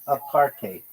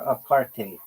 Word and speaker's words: apartheid: a car the in It's pronounced apartate or apartate with a bit of a Dutch style hide at the end like hike with a D.